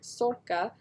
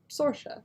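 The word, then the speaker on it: Sorcha: it uh they are both irish names but pronounced a little differently mine is more like sorca but confusingly some people spell their name like mine and pronounce it sorsha sercia well cool welcome are you in ireland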